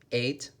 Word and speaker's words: ate: eight what did Anna do last night she ate some pizza remember this word is pronounced like the letter 8 she ate some pizza number 9 what did Sophia and